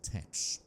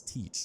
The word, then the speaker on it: Teach: It was here that Bonnet became acquainted with Edward Tet, more famously known as Blackbeard. If you're wondering about my pronunciation of Tet, it is usually pronounced as teach or thatch.